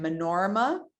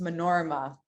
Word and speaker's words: Manorama: Manorma. Manorma is the one that uses, it's spelled Manorama, but it's pronounced Manorma.